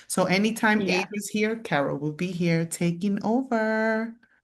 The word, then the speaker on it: Caro: It's pronounced Caro. Caro. Like I really care about y'all. Yeah. Caro.